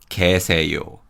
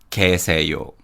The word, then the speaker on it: 계세요: And in terms of pronunciation, in 계세요, 개 uses the Y glide vowel 예, but the Y sound weakens and we pronounce it as 계세요, 계세요.